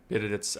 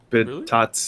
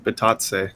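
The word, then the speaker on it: Bitadze: It's not Bididits. Bitatse. Really? It's not. It's definitely not Bididits. That's what it says, Chris. No, we looked at it last time. It was Bitatse.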